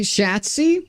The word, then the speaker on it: chassis: It's French, I know, but it's a borrowed word and they pronounce it their own way. Chassis. Shhatsi. Shhatzi. Yeah, Shhatsi. Exactly.